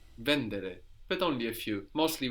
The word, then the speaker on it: vendere: but not here so some Italian verbs have the accent third from the end vendere but only a few